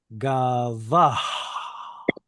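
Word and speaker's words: גבה: So an example, and there aren't many, but a verb like this one, gavah, with an actual H sound at the end.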